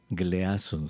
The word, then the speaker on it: Gleason: En los años 60, el siglo pasado, aquí en Estados Unidos, un médico llamado Donald Glisson, G L e A S O, gleason, se escribe.